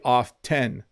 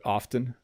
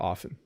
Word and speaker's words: often: I'll just say often I often don't say the T when I'm speaking quickly but you can say it no one's going to be annoyed if you say often if it's just a subtlety if you say off 10 that that's not right but often often or often both work uh welcome JT thank